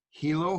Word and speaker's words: Hilo: Karen is the owner of Shear Magic in Hilo, Hawaii. Did I pronounce that right, Karen?